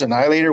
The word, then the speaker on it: Anialator: band from Canada yes the pronunciation is the same as ours Annihilator we spell it different